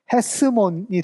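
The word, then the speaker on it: Ἑσρώμ: 이게 파레스 대 에겐네센 톤 여기 보면 에스몬이 있는데 그 순표가 어떻게 되나요? 반대로 이렇게 돼 있죠. 그러면 앞에 히읗이 들어가죠. 헤스몬이 됩니다. 헤스몬. 그 다음에 헤스몬은 또 누굴 낳아요?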